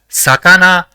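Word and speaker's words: さかな: The first character in the word is sa, the second is ka, and the third is na. So, it will be pronounced as sakana, which means fish.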